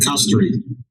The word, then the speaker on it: Castorice: Não é Castorice. É Castory. O nome dela é Castory, pelo amor de Deus. Não é Castorize, é Castory.